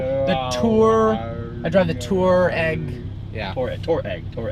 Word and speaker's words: Touareg: a volkswagen the volkswagen touareg which looks like touareg but it's actually not bad i think that's the